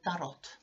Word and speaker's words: tarot: I know that in English, tarot is pronounced tarot, but, but I'm a Finn. So that's the way, tarot is the way we pronounce that word in Finnish.